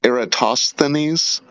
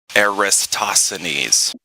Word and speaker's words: Eratosthenes: on you know um I know a lot of very smart people that pronounce it wrong they say aristosanese yeah that's something like that